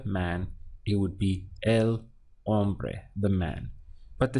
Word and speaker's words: hombre: man in Spanish is hombre notice that you start your pronunciation from the all so be hombre because always in Spanish this H is silent it's written in the spelling but not actually pronounced so we have on